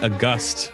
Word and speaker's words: August: August. Actually, that's how it's pronounced in the audiobook.